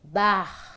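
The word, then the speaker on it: Bach: mesmo só de TSL música só de bar pronuncia-se bar ensinou afetadamente Ainda Ontem para Gisela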